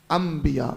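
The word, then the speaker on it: انبیاء: हम कह रहे हैं अनबिया लिखा जा रहा है अनबिया लिखा क्या जा रहा है अनबिया पढ़ा क्या जा रहा है अंबिया वैसे ही एक लज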